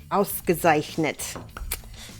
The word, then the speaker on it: ausgezeichnet: It was ausgezeichnet. Is that the right word, Mike? Pretty close. It's the right word, but pronunciation. Ausgezeichnet. How do you say it? Ausgezeichnet. Gezeichnet. That's a little bit overpronounced, but...